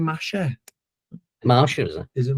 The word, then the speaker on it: Masha: Is a character's name Masha? Marsha, is it? Is it Marsha? It's spelt Masha. They're saying Marsha.